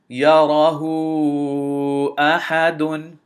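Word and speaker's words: يَرَهُۥٓ أَحَدٌ: And the way we spell it out is we say ha dhamma waw mad hu, and we extend it to 4 counts.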